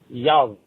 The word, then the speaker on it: jävla: the word, our word fuck, and when you pronounce it in Swedish, it is jävla.